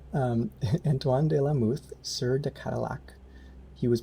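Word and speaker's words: Antoine de la Mothe: comparable heights so uh this is named after anthon de la muth oh fractals i forgot to ask you how to pronounce his name um antoine de la muth sir the cadillac he was born antoine lumet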